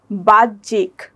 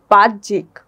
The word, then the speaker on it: বাহ্যিক: এটার উচ্চারণ হয়েছে কি বাহ্যিক। এখানে হয়ের উচ্চারণটা হচ্ছে না, এখানে জ ফলারই উচ্চারণটা হবে, যেমন বাহ্যিক।